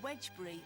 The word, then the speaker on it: Wednesbury: Wednesbury, or Wedgbury as the locals pronounce it, is an ancient settlement and gets its name from the Saxon god Woden.